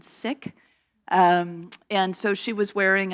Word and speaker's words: Sikh: Some people may know it as Sikh, but it's actually correctly pronounced, from what I understand, Sikh.